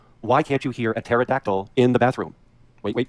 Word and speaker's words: pterodactyl: Why can't you hear a pterodactyl in the bathroom? Wait, wait, wait for it. Because the P is silent.